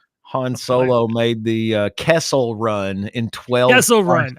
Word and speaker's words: Kessel: Do you know how many suckle runs that is?